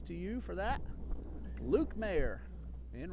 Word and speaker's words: Mayer: try to say Mayer, it is spelled and pronounced just like, remember Jeffrey Mayer, 1996, Derek Jeter? Keep wanting to say Jeffrey. So sorry, Luke. My apologies to you for that. Luke Mayer in right field for the Southeastern Fire.